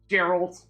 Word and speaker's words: Geralt: be sarcasm zero here soft G on Gerald uh yeah I suspect